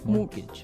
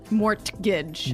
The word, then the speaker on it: mortgage: with a t yeah it has a t in it but you don't pronounce it you say mortgage morgage so not Mort morgage not morgage morgage morgage